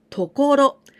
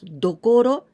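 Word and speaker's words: 所: this means the place we say tokoro only tokolo tokoro it means the place and sometimes we pronounce dokoro it depends if there's some candies here dokoro or on oyomi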